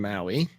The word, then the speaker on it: MAUI: is multi-platform app ui the p is silent because maui sounds so much better than empower right now maui is